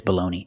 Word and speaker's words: baloney: And we have this baloney. It's spelled differently, but it has the same pronunciation.